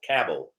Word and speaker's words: Cobble: It's said like Cabble. So it's Owen Cabble.